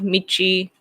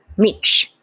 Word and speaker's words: Mitch: What do you guys think of Michi McConnell? I don't know that. I have to pronounce Michi. Yeah, Mitch.